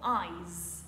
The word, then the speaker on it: eyes: on ajoute un S ce qui crée le mot eyes avec un son Z eyes pour dire j'ai les